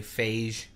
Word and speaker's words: Feige: say his name was cuz I say Feige mm-hmm and I've heard people say phase or Phi's or or